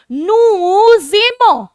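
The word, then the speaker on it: nous aimons: नूजेमो, नूजेमो, एस और ए combine होकर आपका ज बन जाता है, इसलिए मैंने उसको बुलाया नूजेमो।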